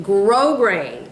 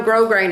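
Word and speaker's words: grosgrain: and you buy some grow grain now I haven't used any other kind of ribbon but grow grain and you know grow grain is spelled gross grain let me see what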